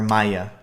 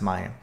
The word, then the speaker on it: Maja: My goal will be to clear out not only Quinta, but Zani School and the Monastery of Maja, or Maya. It's M-A-J-A, but it is pronounced Maya.